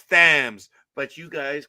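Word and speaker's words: Thames: No, because you say it's it's the Tim's River. No, that's Thams. That's how you speak English. It's Thams.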